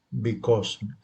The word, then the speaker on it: because: Ok, en este caso, bueno, tenemos nuestro be, que es decir, la pronunciamos como be, y este lo pronunciamos como cause, pero con Z.